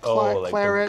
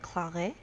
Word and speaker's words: claret: It would be like claret? Yeah, I think that's right. Well, Diane is going to have to confirm that that's true, but I bet the T is silent, just like you pronounced it there, Shelby.